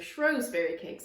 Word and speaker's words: Shrewsbury: The next recipe is for Shrewsbury cakes, or Shrewsbury cakes as they're sometimes pronounced.